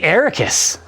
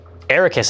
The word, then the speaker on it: Arrakis: book are pronounced um ericus i think is the canonical one right i thought it was a rakis but that's me that's the way it's pronounced in the movie yeah at least the first movie iraq suck it i